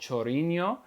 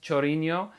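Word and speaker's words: Chorinho: on a song called chorino or at least i'm assuming it's pronounced chorino it's spelled c-h-o-r-i-n-h-o um reminds me of ronaldinho i actually am a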